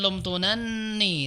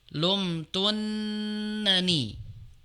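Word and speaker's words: لَمْتُنَّنِي: Nah, di sini ee bukan lumtunan tapi yang tasdid nun yang depan ya. Sehingga dibacanya lumtunani bukan lumtunan tapi lumtunnani.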